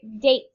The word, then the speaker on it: date: All right, date. D-8. Date. How many sounds? 3. That's right, but it has 4 letters. The E makes A say its name.